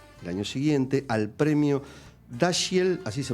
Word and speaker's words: Dashiell: último milagro nominada el año siguiente al premio dashiell así se pronuncia y el hummer exacto a la mejor